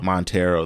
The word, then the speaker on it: Montero: say the name yeah montero that's that's how you say it lots of emotions